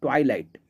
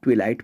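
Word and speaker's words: twilight: फिर वर्ड आया है ट्वाइलाइट। मैंने भी इस वर्ड को काफ़ी लंबे वक्त तक ट्विलाइट पढ़ा था, लेकिन कुछ दिनों के बाद मुझे पता चल गया कि ये ट्वाइलाइट होता है।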